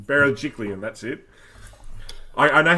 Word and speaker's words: Berejiklian: You can't even say it, Pete, let alone spell it. Anyway, you know what I'm saying. Berejiklian, that's it.